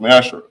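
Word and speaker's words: מעשר: You can find this in Numbers 18, verse 21, and Malachi 3, verse 8 through 10, which means 10th in Hebrew, and it's pronounced Ma'ashra.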